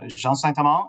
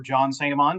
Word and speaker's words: Jean Saint-Amand: I am Jean Saint-Amand or John Saint-Amand, depending on how you decide to pronounce it.